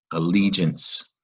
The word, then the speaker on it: allegiance: Both the E and I are going to make that G soft. Remember, a soft G, allegiance, which still means loyalty.